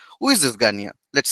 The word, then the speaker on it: Gagné: Okay, who is this Gagne? And what's its weird name? It is like a French pronunciation, but we are using English pronunciation. Who is this Gagne?